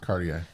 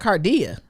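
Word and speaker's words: Kardea: is what's her name i say her name wrong cartier it's cartier i like how i call it cardia it's cartier cartier you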